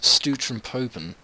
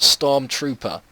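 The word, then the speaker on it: Stormtroepen: How do you pronounce this? Stutron Popen. Well, that just sounded absolutely atrocious. I'm going to try and get my Google Translate up again and figure out how to say this properly. Right, it's pronounced Stormtrooper, which obviously means shock troopers. My way I pronounced it a minute ago was pretty shocking, to be fair.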